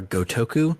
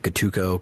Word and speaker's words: Gotoku: 2 as Ryu ga Gotoku. I always trip up the syllables in Gotoku, and I do like Gotuko, Gotoko, something like that. I don't know why it trips me up. Gotaku.